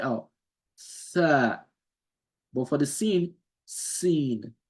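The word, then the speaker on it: س: A tha makes you blow the air out. Tha, tha, tha, tha, tha. But when you pronounce the sin, sin, you see the teeth are touching each other. Sin, sin, tha. The teeth, upper and lower teeth are not touching each other for the tha.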